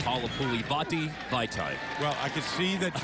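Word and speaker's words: Halapoulivaati Vaitai: we've got to say, just to make sure that everybody knows, it's Halapuli Vati Vaitai.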